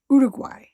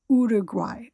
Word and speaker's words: Uruguay: And sometimes I've heard it where the G is not even like you can't hear it, but I'm pretty sure you're supposed to say the G. So, Uruguay.